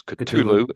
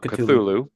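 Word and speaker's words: Cthulhu: by Metallica which is interesting that's the actual pronunciation is culu and not cthulu uh it's the eighth and final track for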